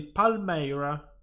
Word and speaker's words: Palmyra: Palmaira, perché c'è la Y in mezzo. Okay. Palmaira. No, Palmira. No, non si legge Ai, quindi no. Palmaira. No, questo già parte con un menus incredibile. Bassiamo il volume perché è un pochino dei bong incredibili. Direi aiuto. Ok. Sempre dal mixer facciamo, va là. Palmaira, vieni al 30. Facciamo 39%, ok. Le mie orecchie, pensassi le mie. Cosa? Dammi qua. Allora, questa qui è la pronuncia giusta di Palmaira.